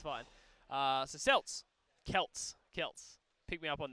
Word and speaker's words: Celts: you heading off so Celts Celts not silts alright okay geez Celtic